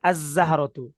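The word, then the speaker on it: الزهرة: হরফের শুরুতে আলিফ লাম আসছে তো লামটা কি উচ্চারিত হবে তাহলে কি হবে লামের পরবর্তী হরফটা তাসর যুক্ত রূপে উচ্চারিত হবে তো দেখেন আজজাহারতু আগে ছিল কি আলিফ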